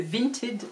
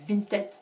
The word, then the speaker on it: Vinted: Et je suis inscrite depuis quelques mois sur Vinted, et sur Vinted, je vais quand même bien le prononcer en tant que prof d'anglais, c'est Vinted, même si on dit Vinted dans les publicités.